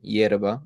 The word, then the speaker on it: yerba: But Argentinians and people from the river plate which is like Uruguay and like Wenocades and that whole area they say sha instead of instead of ya.